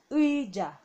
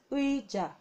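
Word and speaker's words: 의자: Now I'm not pronouncing this again, I'm just laying emphasis because this does not have any phonetic value when you use it at the beginning of a syllable. Okay, so this is uija, uija.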